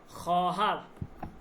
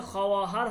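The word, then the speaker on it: خواهر: খহার। খহার মানে হচ্ছে বোন। এটা খেয়াল করেন। এটা কিন্তু খহার হবে না।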